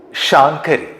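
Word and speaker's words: Śaṅkarī: Shāṅkarī is the correct pronunciation in Lalitha Sahasranamam.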